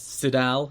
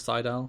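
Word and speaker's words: Sydal: up and mighty nay pronounces it as siddell instead of seidel khazarian and that's seidel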